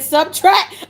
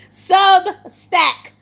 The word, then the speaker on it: Substack: You keep saying subtract. Oh, Tina, you know I get stuff messed up. WHAT IS IT NOW? TINA GOING TO SPELL IT OUT. SUBSTACK. SUBSTACK. SUBSTACK. OKAY, TINA. SUBSTACK. Oh god.